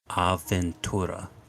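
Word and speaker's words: avventura: pronounce Adventure in Italian because you felt he spelled with like two v's right yeah so do you say Aventura Aventura yeah it's good it's like pretend it's got like five B's so it's going to be extremely gonna Market phonetics huh it's always but it's always it's always uh the same so when you have two letters you always pronounce them really hard I'm saying percentage that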